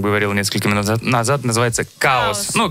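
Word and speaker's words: Kaos: несколько минут назад называется каос ну пишется Я так понимаю как хаос чаос хаос называется хаос да Но именно каос Ну так пому Что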